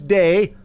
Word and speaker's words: Dei: red and green deck It's called Christmas day but it's spelled Dei as in day as in deity as in I don't